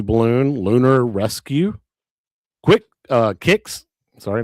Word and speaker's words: Kicks: Don't say it like Danny. I know I messed up. It's it's kicks, not quicks.